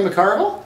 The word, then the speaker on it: McCarville: can you see McCarville with 2 C's pronounced both of them okay guys welcome back